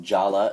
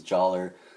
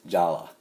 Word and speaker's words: Jala: his name is pronounced Jala even though it looks like it's joller it's Jala it is Jala get